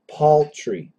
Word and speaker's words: paltry: actually for standard American would be an aw like p a u l Paul paultry paltry paltry poultry poultry so uh